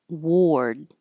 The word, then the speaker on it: ward: worth it worth it Ward again this is an a r but sounds like o r Ward Warden hospital now